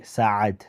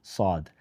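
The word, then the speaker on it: سعد: and the Indian culture, they don't say Saad. They don't actually pronounce the Ain. So everyone called me Saad.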